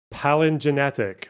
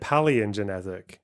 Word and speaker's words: palingenetic: Palingenetic. Oh, he said paleogenetic. Is it palingenetic? Roger Griffin. It's a definition of true fascism. He said it wrong.